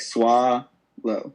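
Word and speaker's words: Soileau: you it's s-o-i-l-e-a-u okay so like sua low like it's french kind of all right dope now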